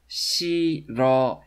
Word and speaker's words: 싫어해요: You know it's pronounced 싫어해요, right?